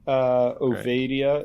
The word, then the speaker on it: Ovadia: Philip, and his last name will be pronounced Ovadia.